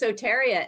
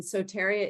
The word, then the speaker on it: Soteria: It's Soteria, and Soteria is the Greek goddess of safety.